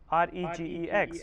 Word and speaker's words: regex: Regular expression is also known as a regex, R-E-G-E-X, where G will be pronunciation as a silent, so regex.